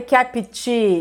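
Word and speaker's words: kept: em PT slap SW e repara porque eu não falei capt slap não tem I nem depois do P nem depois do T slapt capt weap ó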